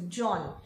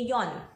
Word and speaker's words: John: So J in German is pronounced like a Y. So for example, if your name is John, you might tend to say Yon.